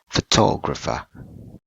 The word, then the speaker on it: photographer: photograph the second one we put the stress word on the second syllable this is the stress